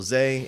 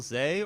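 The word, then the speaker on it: Zé: I think it's pronounced... Z. I don't know Portuguese, Z. but Zay. It's like Zay. It wouldn't be Z.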